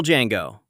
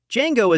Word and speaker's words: Django: Django is asked to spell his name. He does. He explains, "The D is silent."